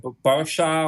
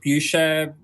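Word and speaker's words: Beuchat: Depending on where you come from, everyone pronounces it different. I'll call it Bersha or Bersha, Busha. I don't know. You maybe should ask a French.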